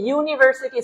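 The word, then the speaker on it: university: দেখেন তো স্যার পাঁচ নাম্বার প্রশ্ন কি বলছে নাসিম ইজ ইউনিভার্সিটি স্টুডেন্ট তাহলে ইউনিভার্সিটি ইউ এর উচ্চারণটা কেমন এরকম শুরুতে আসছে ওয়াই যেহেতু ওয়াই আসছে তাহলে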